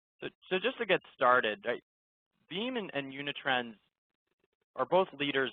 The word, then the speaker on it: Veeam: Veeam was founded in 2006. It's a privately held company. The name itself just comes from the pronunciation of VM, as in a virtual machine.